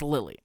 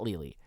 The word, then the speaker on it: Lily: It's Lily. It's pronounced Lily, not Lili.